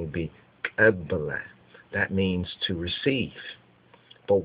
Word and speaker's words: Kabbalah: Now, when you look at that word Kabbalah or Kabbalah or Kabbalah, the correct pronunciation would be Kabbalah.